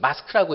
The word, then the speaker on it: MASCC: 그래서 이 사람이 만든 이 MASCC 마스크라고 읽는데 마스크에 들어가 보면은 모든 환자는 서포티브 케어가 필요하다고 얘기하고 있습니다.